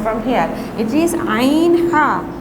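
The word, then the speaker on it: ع: Here 2 letters are pronounced from the middle portion of the throat.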